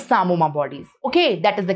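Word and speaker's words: psammoma: It is known as sarcoma. In sarcoma, the P is silent. Don't say pisamoma. It's sarcoma bodies.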